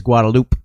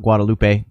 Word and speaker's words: Guadalupe: in the the road the main drag in Austin is is guadaloop not Guadalupe yeah yeah well that's